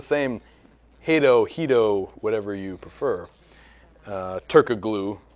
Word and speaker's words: Turkoglu: Turkoglu, as it's spelled.